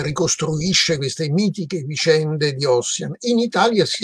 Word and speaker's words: Ossian: Ecco, io ho fatto notare che queste formule si ritrovano nell'Ossian, va pronunciato all'italiana, di Cesarotti, questo poemetto ricavato da un falso sostanzialmente scozzese di Macpherson, che ricostruisce queste mitiche vicende di Ossian.